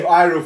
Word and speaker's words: Iroh: The proper pronunciation. We all saw the same fucking show where they call him Iroh for 3 seasons.